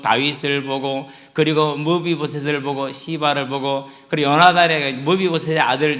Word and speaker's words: 시바: 우리가 하나님을 알아도 하나님을 경외하지 못하면 시바와 같은 사람이 돼요. 발음 잘해야 돼요. 시바. 잘못하면은 좀 강하게 발음하면 시바가 될 수 있어요.